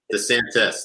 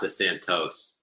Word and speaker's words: DeSantis: It's DeSantis, not DeSantos.